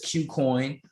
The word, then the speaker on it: KuCoin: Another one that I got put on was Qcoin. And that's spelled Kucoin.